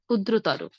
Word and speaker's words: ক্ষুদ্রতর: আবার তর শব্দের শেষে যদি তর বা তম তর এবং ত ম থাকে তাহলেও আমরা শেষে ওকার দিয়ে উচ্চারণ করব, যেমন বৃহত্তর, ক্ষুদ্রতর।